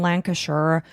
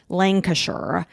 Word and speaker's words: Lancashire: On Friday, January 27th, 2023, Nikki headed to Riverwire in Lancasher. Lancasher.